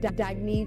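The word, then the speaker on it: Dagne: you can live life intention Al oh it's pronounced dagy do dagy means New Dawn a new dawn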